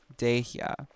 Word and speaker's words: Dehya: It's Dehya.